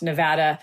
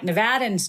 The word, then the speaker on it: Nevada: thing because you know it's typically Western people that know how to pronounce Nevada like nevadans do it I grew up in the east and there we said Nevada I'm probably going to